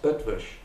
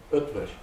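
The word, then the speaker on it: Eötvös: E-O-T-V-O-S, Ötvös, is the way the Hungarian pronounce his name. There are umlauts on the two O's, okay? Ötvös.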